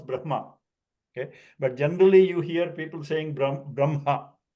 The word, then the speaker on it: Brahma: When the following letter na and la, the hakara has to come from the navel. So the ha sometimes give the impression that it stays longer, like even after the pronunciation of na is done.